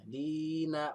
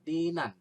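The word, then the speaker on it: دِينًا: Dina dibacanya patah tain tapi ada satu dibacanya. Dina bukan dinan.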